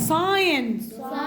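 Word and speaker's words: sign: سايلنت كسل التي سايلنت ساين الجي سايلنت.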